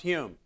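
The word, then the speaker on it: Home: his name it's uh it's spelled h o m but uh it's pronounced Hume but uh here's a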